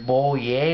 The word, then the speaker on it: Boulle: the book it was based on by Pierre boier is how you pronounce that um and of course you know